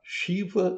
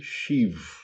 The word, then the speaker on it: Shiva: Então, eh, voltando a Shiva e Xiv ou Ganexa e Ganeix, qual que é a diferença principal? É a vogal final.